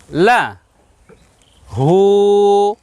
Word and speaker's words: লাহু: আমরা উল্টা পেশ বসিয়েছি আমরা উচ্চারণ করব লা হু কেন লা এখানে সংক্ষেপ করলাম এজন্য যে শুধুমাত্র জবর আছে যে জবরটা পড়ে থাকলে আওয়াজটা ছোট হবে সংক্ষেপ হবে তাহলে এর আওয়াজ সংক্ষেপ হলে উচ্চারণ হবে কি লা আর দ্বিতীয়টাতে উল্টা পেশ আছে উল্টা উল্টা পেশ থাকলে আওয়াজটা একটু বড় করতে হবে উচ্চারণ কেমন হবে হু তাহলে দুইটা মিলে কেমন হলো লাহু লাহু কোরআন মাজিদের একটি